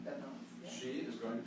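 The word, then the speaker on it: Beth Mowins: ESPN that Beth Mallins, is that how you pronounce her name? Beth Mallins, yeah.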